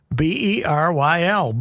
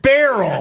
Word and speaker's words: Beryl: Not barrel. No, it's BERYL. If it's male, it's BERYL Ives. But if it's BERYL, it's BERYL is BERYL. It's BERYL. Yeah, it's pronounced with 2 E's, BERYL.